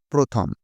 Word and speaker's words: প্রথম: প্রয়ফলা ওকার দিয়ে উচ্চারণ করি। প্রথম একই রকমভাবে ভয় রফলা মূর্ধন্য ভ্রমণ লেখার সময়